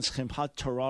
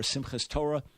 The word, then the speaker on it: Simchat Torah: But this happens on Simchat Torah, or Simchas Torah, as others would pronounce it.